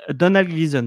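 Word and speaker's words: Domhnall Gleeson: C'est de comment se prononce son nom c'est Doham Cleason. Donald Gleason, voilà.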